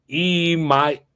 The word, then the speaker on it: Iamaleava: Tennessee, number 4, I do like Nico Iamaleava.